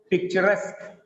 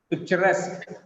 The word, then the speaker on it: picturesque: The stress is on last syllable here. Guarantee. Kangaroo. Bamboo, engineer, Japanese, picturesque, picturesque, cigarette, balloon, balloon.